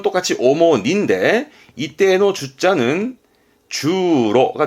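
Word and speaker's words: 主に: 그런데 니가 오더라도 발음은 똑같이 오모니인데 이때의 주자는 주로가 돼.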